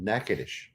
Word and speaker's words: Natchitoches: Charles from Natchitoches. Wow. And if you think I mispronounced it, I didn't. It's just how we do things in Louisiana.